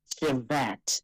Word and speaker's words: shevet: And I found that it comes from the Hebrew word shevet, S-H-E-V-E-T, and sometimes they spell it S-H-E-B-E-T.